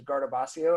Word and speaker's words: Guardabascio: work really hard because my last name is Garda Bozzio and it has never been pronounced correctly you know by someone I